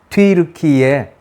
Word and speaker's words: 튀르키예: 튀르키예, 천천히 얘기하면 튀르키예 공화국이었습니다.